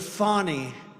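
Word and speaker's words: Fani: been destroyed because of fonnie f a n i fny you have to pronounce it fonnie it's called Fanny you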